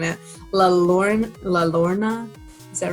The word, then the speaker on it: La Llorona: La Llorona, is that right? Like the crying lady? Llorona, yeah, the Llorona. Did I say it right? Kind of. It's like a Y, La Llorona.